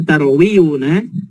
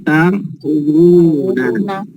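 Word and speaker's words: تروون: Berarti waw yang ini karena nggak mungkin bacanya tarwiyuna menjadi tarwuna.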